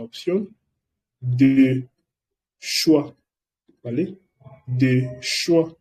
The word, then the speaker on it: choix: De choix, no lo digo de choice, es de choix, porque OI se pronuncia wow, como en el caso de bonsoir, buenas tardes.